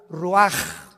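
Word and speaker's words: ruach: Roach así como suena se pronuncia la c en hebreo como J ruaj se les só y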